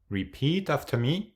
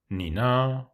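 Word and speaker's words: 呢: Lưu ý rằng âm "e" được phát âm giống như cách ngắt lời trong tiếng lóng "duh" hoặc "e" trong tiếng Pháp, nhưng rất mở: ne.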